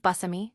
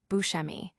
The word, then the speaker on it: Buscemi: He explained that while many assume his name is pronounced Buscemi, which he acknowledges as the Italian way, his upbringing offered a different cadence. Growing up in a half-Sicilian family in 1960s Brooklyn, the pronunciation he was accustomed to was Buscemi.